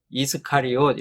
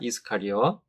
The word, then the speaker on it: 이스카리옷: 우리말 성경의 이 가롯은 원문인 헬라어로 읽으면은 이스카리옷 이렇게 발음이 됩니다. 이스카리옷.